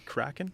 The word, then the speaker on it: Kraken: francis he's the gm of crack and and kraken to pronounce it correctly kraken yep crap seattle cracking i think it's a